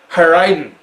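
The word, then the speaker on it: Airén: course tempranillo and then a wine that looks like it should be pronounced aaron but it's heireiden how i didn't i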